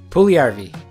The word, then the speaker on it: Puljujärvi: The correct way to pronounce this player's name is Jesse Puljujärvi.